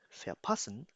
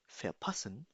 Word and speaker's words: verpassen: Einer ist verpassen. Pronounce with me. Verpassen.